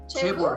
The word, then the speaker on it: chaebol: I'm not even sure how to pronounce this properly, James. Chebor? Chebor, yes.